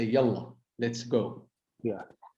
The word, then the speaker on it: yalla: So they learn yalla, which we use, which is in common.